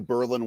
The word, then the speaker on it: Berlin: Sort of like New Berlin, Wisconsin instead of Berlin.